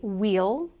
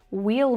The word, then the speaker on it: we'll: And a lot of people might say wheel. We'll meet at the park. But many native speakers will pronounce this word as a schwa sound.